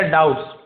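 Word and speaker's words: doubts: एक तरफ ले गए to clarify there डाउट्स। B silent डाउट से नहीं पढ़ेंगे। डाउट्स डाउट यानी होता है संदेह।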